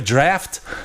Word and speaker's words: draught: I go, why is there draught beer? Can I have a draft? DRAFT. Draft. Who orders draught beer? Why do they sometimes spell it like Miller Genuine GH is a Draft? draft? DRAFT. Because it's easier than the Draught. DRAUGT. The GHT silence.